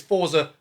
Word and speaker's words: Forza: So the most demanding game I've got as of this moment is Forza Horizon 5. And yes, I know it's pronounced Forza.